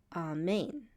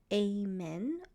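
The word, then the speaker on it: אָמֵן: this is the word amen or amen, as we say in English. So let's take a look at how it's pronounced. So we start with the consonant Aleph. It's silent.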